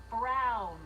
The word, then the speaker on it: Brown: to a t that's emmett brown rhymes with clown which i'm beginning to